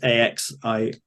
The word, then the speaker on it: Axioned: So, well, Axioned is Axioned spelt with an X, so it's Axioned.